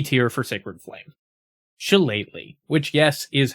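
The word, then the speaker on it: Shillelagh: Chalet, which yes is how you pronounce it.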